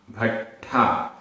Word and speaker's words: भट्ठा: उच्चारण, दंसण भट्ठा, भट्ठा आधा टा और ठा, भट्ठा भट्ठा, दंसण भट्ठस्स, भट्ठस्स आधा टा ठा आधा सा पूरा सा, भट्ठस्स।